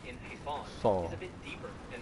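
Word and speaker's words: حصان: In Arabic, the word for horse is Hisan. And that saw, that S, it's not like the regular Arabic S, right?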